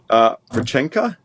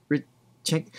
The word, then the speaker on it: Реченька: Rechenka? Rechenka. Or would that be a kh sound? Like Rechenka?